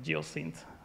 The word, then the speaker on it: Geocint: Geo dat and it it pronounced like geoc syn uh yeah world around